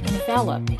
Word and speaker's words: envelop: able to use them properly the first word pronounced envelope is a verb to envelop is to surround